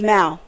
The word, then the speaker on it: Mao: So you know, my name pronounced is Mao, right?